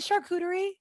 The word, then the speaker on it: charcuterie: the founders of charcuterie is it charcuterie right chartering no no you said it right that's right it's a coup not a chew um um and